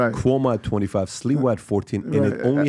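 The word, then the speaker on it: Sliwa: I always get his last name wrong. Right. Curtis Lewa.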